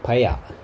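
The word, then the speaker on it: paella: 그다음에 이제 저녁 시간이 되어서 for dinner we ate 파에야라고 발음하는 모양이네요. We ate 파에야.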